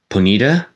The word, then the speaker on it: Ponyta: pony arm I know I hear people saying this as penita but I call it ponyta so I know so